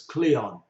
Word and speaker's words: Kliwon: Umanis, Paing, Pon, Wage, and Kliwon, quite often pronounced as Cleon.